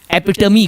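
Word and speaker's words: epitome: नो, एपिटोम नहीं है ये। यस, इट्स एपिटमी। इसका जो बेसिक प्रोनाउंसिएशन है एपिटमी।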